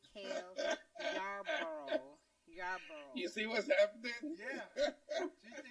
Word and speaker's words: Yarborough: yarboro it's not no job bro it is yarborough i believe it's how you pronounce that one so would you like your